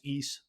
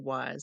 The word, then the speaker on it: Ys: are both 50% off I believe it's pronounced East spelled Ys yeah I don't know I said wise and I was obviously